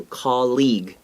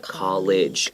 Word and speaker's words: colleague: memorize that okay so colleague not college college sadashi okay but